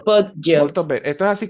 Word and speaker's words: Poggio: En este caso, fíjense, GG, GI, G suena G, Y y bueno, por supuesto con las respectivas pausas de las dos G.